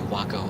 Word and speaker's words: Waco: that you know i do like the way waco or wacko oh my god i can't say wacko i just can't i just can't what were